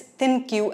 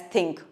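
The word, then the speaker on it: ThinQ: fabrics and with its thin Q app which I think should be pronounced as think what do you think you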